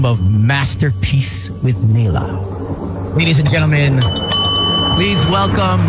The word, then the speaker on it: Naelah: Yes, Naelah. Butchered your name.